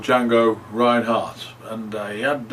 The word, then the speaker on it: Django: you want to check him out on YouTube Django Reinhardt is spelled with a d d g a n